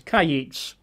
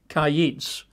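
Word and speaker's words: קַיִץ: a single Hebrew word, which you pronounce as kayits, which you would spell in English letters as Q-A-Y-I-T-S, kayits.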